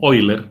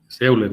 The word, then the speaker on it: Euler: sería el criterio técnico para poder seleccionar máquinas, los triángulos de velocidades, la ecuación de Euler para las turbomáquinas y los tipos de turbinas por grados de acción.